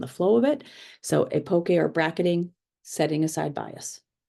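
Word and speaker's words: epoché: researcher Mustakas explained as epoche, which is pronounced a number of ways: epoche, epoch, epoche. For my research, I will pronounce it as epoche. I found that pronunciation used the most.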